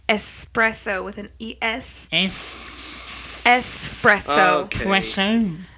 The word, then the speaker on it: espresso: for real people want to be like expresso like we're expressing our coffee i just don't even espresso espresso like espresso it's italian it's kind of like